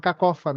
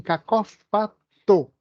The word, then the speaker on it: cacófato: Estou falando cacófano, e sim cacófato, certo?